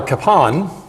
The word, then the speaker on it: Kapaun: Capon or father Capone um it is actually pronounced father capan um and whenever I try to make it